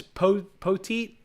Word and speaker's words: Poteet: I believe it's Poteet. Is how you pronounce it.